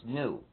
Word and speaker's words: gnu: an African language and the correct pronunciation has a click sound in it when the European colonists